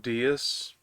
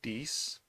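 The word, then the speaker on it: Deis: peace yeah so as a kid always pronounced dias but uh the pronunciation is apparently diese uh Jokes Aside I'm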